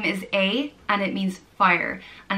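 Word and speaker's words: Áed: I think some people do pronounce the D, I guess, depending on where in Ireland you're from, so it's either A or Aid.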